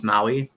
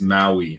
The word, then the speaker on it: Maui: He's like double my height because his name is Maui in real life. It's Maui, not Maui. That's what I said, Maui. No, don't try it. Maui. You're putting the emphasis on the wrong consonant.